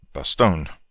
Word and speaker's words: Bastogne: The 101st Airborne Division, the battered bastards of Bastogne, or as many commentators pronounce it, Bastogne.